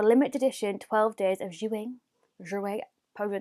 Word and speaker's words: Jouer: That's how you say it, JOUER. That's how I feel like it should be said.